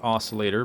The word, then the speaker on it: oscillator: all right okay then o I know it's pronounced oscillator by the way the sea is silent for